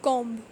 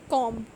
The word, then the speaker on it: comb: B is not pronounced when following M at the end of a word. If M comes before B in a word, then we are not going to pronounce B. B will be considered silent. Like for example, climb, crumb, dumb and comb.